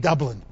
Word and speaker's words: Dublin: make a circle and from double in because Texans can't pronounce vowels very well became Dublin everyone thinks it's Irish